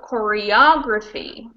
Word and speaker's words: choreography: so in this case the stress is on the o choreography and if you look